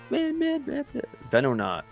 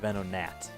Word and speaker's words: Venonat: I actually, you know what? This has been a trend with me where I correct pronunciations on Pokemon names that I have made by reading them. And I've just always just... I think a gnat is a bug, so Venonat makes sense. Like a venom and gnat.